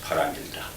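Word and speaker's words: 바라밀다: In Korean, it's pronounced paramilta.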